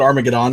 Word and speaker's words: Armageddon: I call it Armageddon because that's the way the Germans pronounce it.